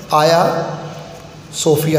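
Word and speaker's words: Hagia Sophia: हाया सोफिया, अच्छा देखिए इसकी प्रोनाउंसिएशन बच्चों ध्यान में रखना, जी है लेकिन टर्किश लैंग्वेज में जी ज़रा साइलेंट होता है। इसको हाजिया भी कुछ बुक्स में आप देखें लिखे हुए, लेकिन सही प्रोनाउंसिएशन आया सोफिया है।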